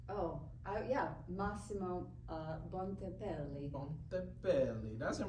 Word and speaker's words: Massimo Bontempelli: Could you pronounce? Oh, yeah, Massimo Bontempelli.